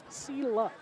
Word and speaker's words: Selah: terms of their pronunciation it's Zilla see luck s-e-l-8-h let's see the Vikings